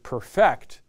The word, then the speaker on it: perfect: and by the way when you say this uh uh perfect as a verb make sure you um emphasize the second syllable you perfect a security interest a